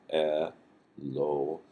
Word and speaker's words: Elohim: then at the Hebrew word Elohim this is e the L is l sound o h and then a long e sound and then a final M or me so elim this word standard word